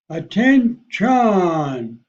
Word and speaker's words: attention: For example, I would say, attention, where T-I-O-N is emphasized. Attention.